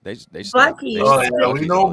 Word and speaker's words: Buc-ee's: Bucky's. They Buc-ee's.